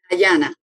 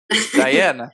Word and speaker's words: Dayana: Or is it, how do you pronounce it? Diana. Diana.